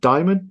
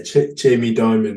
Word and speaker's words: Dimon: Is it Dimon? Oh, it's pronounced. Yeah, Jamie Dimon.